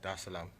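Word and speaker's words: Dar es Salaam: the seventh to come straight to um tanzania da salaam did i pronounce that right yeah okay cool there islam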